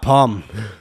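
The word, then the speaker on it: Pomme: prisoners of mother England P pronounced pom it's p o m e it's one M it's a singular M it's double M it means Apple in French that's why he's gone for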